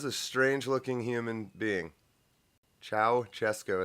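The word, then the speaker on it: Ceaușescu: Strang looking human being Chow chesco is how you say that okay and then there's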